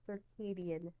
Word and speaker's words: circadian: rhythm is circadian rhythm it's a funny word to look at it's pronounced circadian and under circadian rhythm